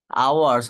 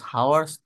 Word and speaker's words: hours: আওয়ার্স, হাওয়ার্স, আওয়ার্স, হবে উচ্চারণটা, না।